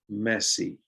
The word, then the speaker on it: Messi: we have leo messi in english you pronounce his name the same as that word messi which means disorderly unclean a bit so try that one